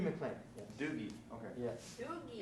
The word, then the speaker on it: Dougie: Doogie, it's their way of saying Doug. I mispronounced it for years.